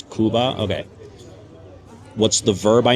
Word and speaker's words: Cuba: vocab word like hey how do you say Cuba? Oh it's kuba.